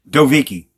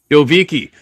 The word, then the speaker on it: Dovichi: Dovvici. Dovvici.